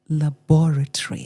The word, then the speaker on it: laboratory: That word is laboratory. That's it. I'm like, wow, thank you. And beyond that, she says, look, the syllable, the emphasis is on the second syllable.